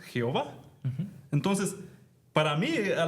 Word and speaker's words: Jehová: Entonces, en una traducción encontramos Yahvé, pero cuando se traduga al inglés, este, Yahova, Yah, Yova. Obviamente en el español no pronunciamos la la J como y. Así es. Y leemos Jehová.